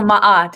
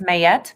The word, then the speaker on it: Ma'at: the 42 Pittsburgh so ma'at it's m a a T some pronounce it as mayet she's an Egyptian Netter